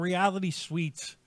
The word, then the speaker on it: Reality Suites: No, the band Reality Suites. Check them out on YouTube. Reality Suites, spelled like a hotel room, SUITE.